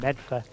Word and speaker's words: Medford: media Millis and uh Meda um which is how they pronounce it Meda instead of Medford and I don't have